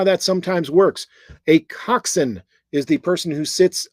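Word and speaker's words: coxswain: orders from a coxen that is pronounced coxen uh in what sport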